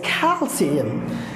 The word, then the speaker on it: calcium: will say, oh, it's calcium. Calcium, not calcium. Calcium. There is no sh sound, there is s sound.